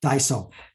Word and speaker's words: Daiso: the upper left-hand corner it's pronounced daiso daiso stores they're all over